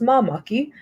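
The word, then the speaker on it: māmaki: So it's pronounced mamaki.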